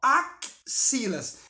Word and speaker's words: axilas: a mais, que é o som do KC. Entenderam? Então, claro que eu não escrevo a palavra com KC, eu escrevo com X. Mas na fala, ó, axilas, eu pronuncio um fonema a mais.